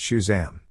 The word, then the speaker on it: Shazam: Cash for tragedy day Shazam pronounced Shazam really stressed that last syllable Little Prince would be